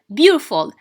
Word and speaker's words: beautiful: Beautiful. So 1, 2, 3. Beau is stressed.